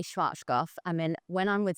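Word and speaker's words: Schwarzkopf: to pronounce it right schwat goof well I say schwat goof I mean when I'm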